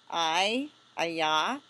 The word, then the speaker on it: Ai: Aya. Aya. Aya. Okay, so Joshua sent men from Jericho to Ayah, which is near Beth Aven, east of Bethel,